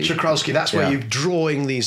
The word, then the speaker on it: Czochralski: How do you pronounce that word? Czochralski. Czochralski, that's where you're drawing these silicon sort of crystals off the surface of a molten crystal ingot.